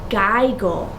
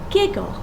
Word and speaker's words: giggle: i didn't have that if i didn't double the g what would this word say this would say geigel because this is a stable syllable and i can't use this consonant sound in my first syllable so i'm going to say the word is giggle there is one tricky